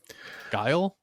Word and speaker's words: Guile: Guile? Yeah, Guile.